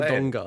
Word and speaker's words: Wodonga: How are you supposed to say Wodonga. it? Wodonga. Albury Wodonga. Yeah, anyway, I was nearly at your house. With a hard G. Wodonga.